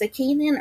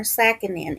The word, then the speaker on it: Sakkinen: I've heard it pronounced Sakkinen or Sakkinen, and she is 15 years old, and she is 5 feet 5 inches tall and weighs 164 pounds.